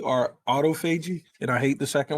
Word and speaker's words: autophagy: is referencing is called it's actually pronounced two different ways it's either called autophagy or autophagy and i hate the